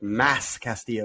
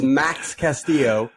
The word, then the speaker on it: Max Castillo: back to triple a i keep saying i can't say his name max cassio i think last week i called them like mass castillo or something like that it is max castillo mel calypso will be